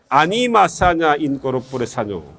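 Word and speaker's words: Anima sana in corpore sano: 일단 된 발음으로 세게 이야기하면 돼요. 아니마 사냐 인 꼬르포레 사뇨.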